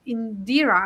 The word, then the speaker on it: Indira: shared it earlier but Indira am I pronounced your name right? I would love to if you can uh introduce yourself. Yeah, you are pronouncing it absolutely right.